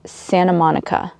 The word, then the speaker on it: Santa Monica: And in American English, we don't normally pronounce the T in Santa. It's Santa Monica is how we would normally pronounce it.